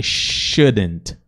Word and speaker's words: shouldn't: But I shouldn't. Mas aí esse T aqui é um stop T também. Shouldn't think. Se você quiser até omitir esse T, você pode, tá?